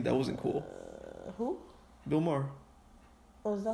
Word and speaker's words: Maher: Bill Maher. Oh, is that how you pronounce his name?